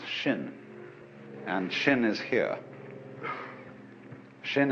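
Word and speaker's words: 心: mind in Chinese mind is um this word pronounced shin and shin is here Shin is the heart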